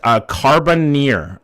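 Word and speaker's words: Carbonear: Pronounced Carboneer.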